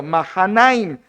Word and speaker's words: Mahanaim: Es la mejor pronunciación según el hebreo. Mahanaim lo llevó a Y, ¿para qué lo llevó allá a este Isbos?